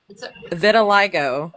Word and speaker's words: vitiligo: It's called vitiligo. I was even pronouncing it wrong last night. Vitiligo, but it made his skin turn white.